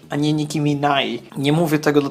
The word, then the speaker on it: Nicki Minaj: chce dupy bo Niki minasz przesady i tak wymawia się Nicki Minaj Nicki Minaj I nie mówię tego do tego że jestem